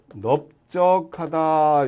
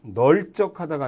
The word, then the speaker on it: 넓적하다: 이때 그냥 넓다는 되는데 넓적하다 이것은 널적하다가 아니라 넓적하다 비읍으로 발음합니다.